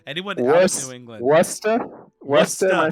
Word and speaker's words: Worcester: Second largest city in Massachusetts, and the name is incredibly hard to pronounce if you're not from here. So I don't blame you. If you were over the pond, it could be Worcester for sure. But sadly, there is no CH right now.